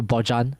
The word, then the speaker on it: Bojan: No, his name is pronounced Yes, Bojan.